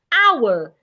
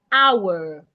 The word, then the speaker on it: hour: Hour. The H is silent. Hour.